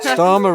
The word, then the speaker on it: Starmer: Well, Starmer himself is probably a perfectly reasonable guy, but Starmer rhymes with farmer, doesn't he?